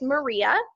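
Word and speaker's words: MMRIA: who are not sure MMR IA it's pronounced maria and this is actually a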